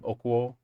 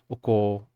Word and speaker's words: okuo: So yeah, yeah, just like the only pronunciation I would mention is okuo. Um, it blurs together a little bit more, so it sounds like oko, like coal is kind of how it's abbreviated a lot.